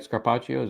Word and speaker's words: Scarpaccio: And unfortunately, Miss Scarpaccio, is that right? Scarpaccio, am I pronouncing that right? Yeah.